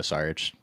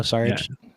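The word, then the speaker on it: Šarić: the field on Dario sarch Dario sarch there we go it's not even pronounced SAR what are we talking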